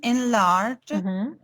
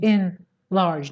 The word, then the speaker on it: enlarge: verb and it's great it's not in large it's enlarged we have enlarged and we have been large and large okay and large the stress is on the second syllable and there's no spaces